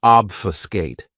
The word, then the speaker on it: obfuscate: Another great verb, which is one of my favorites, is obfuscate. This verb has 3 syllables, and the stress is on that first syllable.